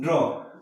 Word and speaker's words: drawn: यहाँ पे N silent है इसलिए आप ड्रॉ करेंगे, DRAWN स्पेलिंग। यहाँ पे जो स्पेलिंग होगा DRAWN, ड्रॉन, ड्रॉन स्पेलिंग हो रहा है, लेकिन यहाँ पे जो एन है ये एन साइलेंट होकर के हम केवल ड्रॉ बोलेंगे।